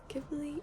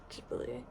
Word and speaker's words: Ghibli: I always say Ghibli because before I was old enough to like know how to properly pronounce it, I said Ghibli, even though I know now that it's Ghibli, but whatever.